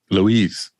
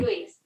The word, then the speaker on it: Luis: Luis. You get it? Here. Mm-hmm. Luis.